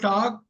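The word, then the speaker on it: talk: எல் வந்து சைலெண்ட் புரியுதா எல் வந்து சைலெண்ட் டாக்குன்னு படிக்கணும் எல் சொல்லக்கூடாது உச்சரிக்க கூடாது ரைட் இந்த படிச்சிடக்கூடாது சோ டாக் டாக்டு டாக்டு docking tax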